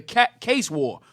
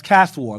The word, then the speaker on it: Caste War: This was during the rebellion known as the Case War, according to INA. Spell that. What's the word? C-A-S-T? Yes, sir. C-A-S-T-E. That's Caste War.